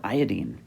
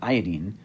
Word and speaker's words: iodine: fluorine chlorine bromine and iodine notice that i say iodine rather than iodine it's